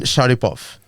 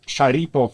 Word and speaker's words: Sharipov: Your am I pronouncing it correct? Shahipov. Uh well Sharipov is my last name.